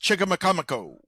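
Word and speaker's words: Chicamacomico: Yeah, it it's pronounced cha makamo.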